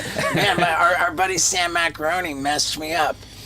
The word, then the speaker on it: Macaroni: Can't trust anything Sam Macaroni. By the way, his his proper pronunciation is macaron. I know.